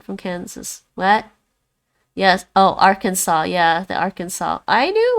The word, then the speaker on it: Arkansas: spell if you just just drop the s arkansas it's like r can saw right arkansas i don't